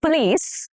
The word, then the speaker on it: police: The police arrived on time. Police. The stress is on the last syllable, which is police.